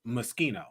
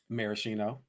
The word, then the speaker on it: Moschino: I didn't really gays, but the word for me was Moschino. How were you pronouncing it? Maraschino. Baby, you have added extra consonants. Extra letters.